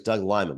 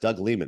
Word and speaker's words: Doug Liman: Doug Leman used to always think it was Doug Lyman but it is pronounced Doug Leman that's youever you interview somebody you make sure